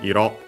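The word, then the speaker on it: 色: First we have this Ironna from the Iroiro we have seen before, the doubling of technically Iro, accented on its own on the last syllable.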